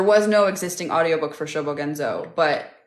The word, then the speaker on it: Shobogenzo: was born so oh the Japanese book showbogenzo is spelled s-h-o-b-o-g-e-n-z-o shobogenzo the funny thing about shobogenzo is they